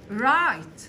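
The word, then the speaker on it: right: ذاتس رايت هذا صحيح خلي بالك الجي والاتش ما تنطقها سايلنت رايت رايت وات الس يعني لما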